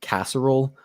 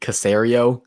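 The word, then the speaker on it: Caserio: say his name uh cesaro i call him i call him nick casserole that's really nick casario that's how you're supposed to say it that's what he yeah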